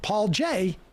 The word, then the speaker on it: Paul Jay: is good too but paul jay rhymes with cia so and i mean